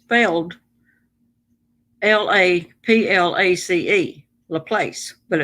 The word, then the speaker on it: LaPlace: laplace louisiana it's pronounced laplace but it's failed l-a-p-l-a-c-e la place but it's laplace because it's french cajun when that man would